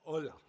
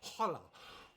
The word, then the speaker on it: Hola: There's always H's. All right. You don't pronounce them. All right. Okay. Hola. Oh, hola.